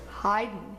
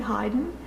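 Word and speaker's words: Haydn: tricky one to spell people always want to put an extra vowel in there between the D and the end but don't do it it's just a CH a Y in German a Y is sounds like I so if helps you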